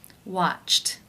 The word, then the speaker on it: watched: Watched, watched. How do you pronounce this word?